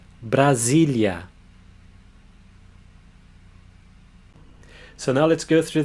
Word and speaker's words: Brasília: When it comes between two vowels, it has a Z sound. So this syllable is Z. Brasília. Brasília.